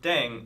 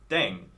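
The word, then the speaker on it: 땡: playing with language now the pronunciation of Deng is similar to Thang I was just I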